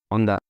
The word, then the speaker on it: Honda: So this is what we know as Honda, Honda Civic, Honda Pilot, Honda this, Honda that. But how do Japanese pronounce this? Well, they say Honda, Honda, Honda, Honda.